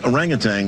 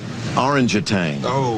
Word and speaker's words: orangutan: on tic-tac-toe the word orangutan was in the question and i pronounced it orangitang because i'd never seen the word in print before jim didn't have a